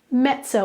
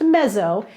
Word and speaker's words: mezzo: The prefix that we have in Italian is the word mezzo. Mezzo. In Italian, two Z's together are like pizza. So it's not pronounced mezzo, it's pronounced mezzo, like the Z's in pizza.